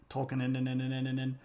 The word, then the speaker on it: Tolkien: So Tolkien. So there's that fun German thing where you pronounce the second letter, and if it's IE, you pronounce the E, and if it's pronounced